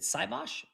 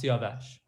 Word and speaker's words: Siavash: Is it Saibosh or? You're on mute. Unmute. Yes, pronounced Siavash.